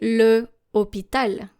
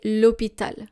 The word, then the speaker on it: hôpital: For example, you don't say le hôpital because hôpital is starting with a silent H. You say l'hôpital.